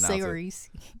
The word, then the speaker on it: Saoirse: People freaked out on me because I mispronounced Saoirse Ronan, the Irish woman's name. Look how that name is spelled and see if you can pronounce it. Saoirse. Yeah, it's like sorry, I love the scene